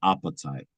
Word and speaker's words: apatite: That's it's not spelled like appetite. It's like I, right? Appetite. Yeah, it's Apatite. Okay. So it's probably appetite. That's probably how they Yeah, would say appetite. appetite. Like a French accent, appetite.